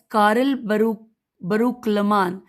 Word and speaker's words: کارل بروکلمان: لام شین عین واو بے الشعوب الاسلامیہ از کارل بروکلمان، میں ہجے کر دیتی ہوں کہ کاف الف رے